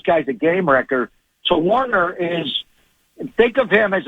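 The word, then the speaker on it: Woerner: Warner 89 it's pronounced it's spelled like Warner but it's Charley Warner yep he's a blocker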